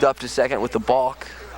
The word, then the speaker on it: balk: to second with the balk. One of the few words that rhymes with walk, of course, is balk.